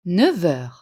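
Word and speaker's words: neuf heures: Il est 9h. Le F de 9 se prononce V à cause de la liaison.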